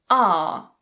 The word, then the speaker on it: are: of this word is are. That's the British pronunciation. We'll look at the American pronunciation in a moment. The reduced form or weak form of this word is just Yes, it's the schwa sound.